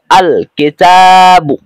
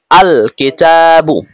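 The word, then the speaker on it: الكتاب: মধ্যেও কিন্তু কাফ রয়েছে এখন এই কিতাবুন শব্দের শুরুতে যখন আলিফ লাম আসবে তখন লাম হরফটি স্পষ্ট আলাদা উচ্চারিত হবে অর্থাৎ এরকম উচ্চারিত হবে আল কিতাবু আল কিতাবু আরেকটা কথা মনে রাখবেন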